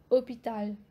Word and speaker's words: hôpital: On n'entend pas le son H, mais on entend le son O, hôpital. Donc, c'est un H muet et hôpital, c'est masculin, un hôpital.